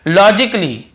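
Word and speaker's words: logically: नहीं हो रहा है और देखिए लॉजिकली लॉजिकली यहां पर भी ए को हम नहीं पढ़ रहे हैं फिर देखिए क्रिटिकली क्या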